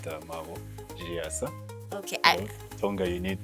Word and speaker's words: Maabo Chiyasa: the pronunciation is okay, but the name is pronounced MAABO CHIYASA.